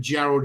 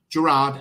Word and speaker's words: Gerard: So what I'm going to do, guys, is I'm going to bring Gerald on. Gerard, actually, is the correct pronunciation.